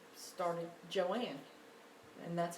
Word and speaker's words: Joanne: a in you would think it would be pronounced Joan but her mother pronouncing starting Joanne and that's how she spelled it well I'm